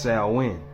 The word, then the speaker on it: Samhain: It's spelled like Samhain, but it's pronounced as Samhain.